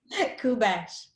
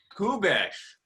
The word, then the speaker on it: Kubesch: 2020 Teacher of the Year, Kubesch. Did I pronounce that right? Very close. What's the right way? Kubesch. Kubesch. Kubesch.